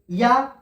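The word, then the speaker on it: ياء: ইয়া, ইয়া উচ্চারণ হয় জিমের মতো, জিমের মাঝখান এবং তার সোজাসুজি উপরের তালুর সাথে লেগে উচ্চারণ হয়, জিম।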